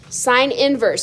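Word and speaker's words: sin⁻¹: be thrown at you um how you s inverse s inverse so it's not s to the 1 power this is said s inverse and the other one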